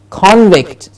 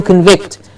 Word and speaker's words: convict: The judge was going to convict him of murder. Yes? And so the convict was hanged. So the convict as a noun, and to convict. Difference in the stress syllable needs to be heard.